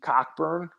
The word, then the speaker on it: Cockburn: They have the dude Kofi Cockburn. I think Cockburn is how you pronounce his name, but Cockburn is how it's spelled.